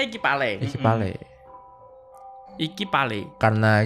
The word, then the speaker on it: iki palek: Oh oh itu oh itu bacanya ikipale.